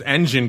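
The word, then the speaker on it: Enjin: fundamental just a technical shot funny because there's engine coin e NJ i n then there's engine like you would spell it and there's engine coin that is eg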